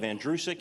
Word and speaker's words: Andrusic: The last name is pronounced like the boy's name Andrew, who is sick. You run it together, you have Andrusic.